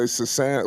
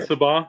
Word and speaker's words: Sensabaugh: And look out for I always mispronounce his name. It's the one who just went off for a whole bunch of points. I always say Sasan. Well, what is Oh, his name? Sensabaugh, Sensabaugh. Yeah, okay, I got him Sensabaugh, right.